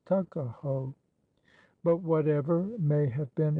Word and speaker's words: Tuckahoe: Eastern Shore men usually pronounce the word took as tuck, Tuckahoe, therefore, is in Maryland parlance Tuckahoe.